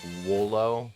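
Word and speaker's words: Wooloo: back and got Wolo I'm pretty sure that the proper pronunciation because I've found out his evolution name is dub wolf which sounds like double so it would make sense that wool Oh sounds like solo I know it's just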